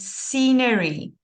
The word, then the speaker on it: scenery: voted voted voted and scenery scenery yes you don't pronounce the c or you don't pronounce the s or ever where you